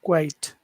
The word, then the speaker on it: quiet: But now number two, it has all of those sounds as number one, but it's separated into two syllables. So you have to put that extra big stretch in the middle to make it very clear.